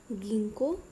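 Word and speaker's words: Ginkgo: इनको थोड़ा ध्यान से देखो, इनकी प्रोनाउंसिएशन ध्यान रखना, गिंको एंड नीटम, ओके।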